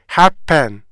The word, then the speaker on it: happen: 그런데 원래 강세는 앞부분에만 있단 말이에요.